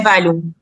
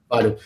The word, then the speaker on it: Valium: É Valium a pronúncia? Só me corrija. Isso, é Valium. Valium.